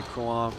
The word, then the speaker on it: Crouin: As you say, Crouin came on. By the way, that's the best you pronounced it so far.